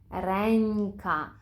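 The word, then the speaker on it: ręka: місці б п м якщо ж наші носувки всередині слова стоять перед будь-яким іншим звуком то ми їх будемо вимовляти як н інколи як ні пєнтро єнзик вигльнд памянтка пінькни ренька А що про кінець слова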